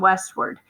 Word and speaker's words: westward: was the a in westward because to me that word sounds like it's saying word like w-o-r-d but in fact it is spelled w-a-r-d so i circled that